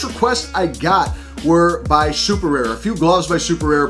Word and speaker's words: Superare: Now, actually the name Superare, as you see across, that's how we would pronounce it here in the States, but it's actually Italian, and you would pronounce it Superare.